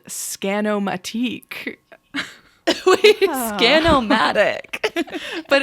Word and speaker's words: Scanomatique: Wait, Scanomatic. But it's spelled Matique. French. Like Matic is MITIC. This is the Scanomatique.